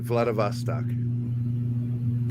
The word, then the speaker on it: Vladivostok: And I actually remembered how to pronounce it, Vladivostok.